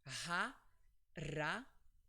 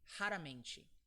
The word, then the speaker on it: raramente: So when the R is between vowels, it's pronounced R. It's this sound, so it's R. So the word is pronounced raramente. Or if I just say it quick, raramente.